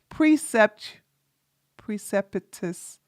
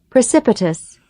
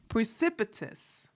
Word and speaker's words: precipitous: precept tuous precious decline that's not how you say this precept preus I have to learn how to say this word chat y'all know how it is precipitous precipitous know the precipitous decline of